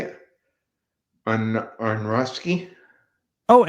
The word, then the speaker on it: Aronofsky: On Aronofsky. Oh, Aronofsky.